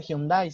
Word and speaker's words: Hyundai: Yo les comentaba que no se dice taekwondo, sino se dice taekwondo, o por ejemplo no se dice Hyundai, sino se dice Hyundai, por ejemplo.